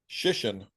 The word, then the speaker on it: Shission: Shission, just like mission.